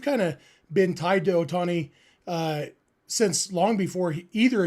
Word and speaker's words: Ohtani: in western you know for us in English there's you know extra emphasis on the second syllable right like that's why it's always been otani or sasaki but in Japanese it's equal distribution for all the syllables um again things that